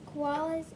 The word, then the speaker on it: koala: are these colin kangaroos koalas and that's a long o at the beginning possums not possums but